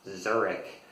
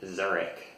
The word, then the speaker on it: Zurich: German is I pronounced Zurich incorrectly. So in English, it's usually Zurich with a k sound instead of the sh sound, which we don't really have in English.